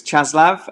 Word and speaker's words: Čáslav: The Czech Air Force, now the pronunciation is Čáslav, and it's 211 Squadron, Taktika Letka, with the Gripens, 15th year of operation.